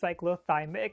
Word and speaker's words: cyclothymic: really so familiar with bipolar disorders yes it's pronounced cyclothymic if you're coming here from an older video